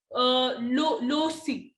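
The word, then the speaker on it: loci: तो इसके अंदर क्या होता है कि मेथड ऑफ लो सी, इसको हम प्रोनाउंस कैसे करते हैं, लो सी, ठीक है।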